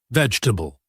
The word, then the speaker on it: vegetable: But in natural English we shorten it. We say it in three syllables. Veg t a bull. The e in the middle almost disappears. Listen again. Veg t a bull. Vegetable.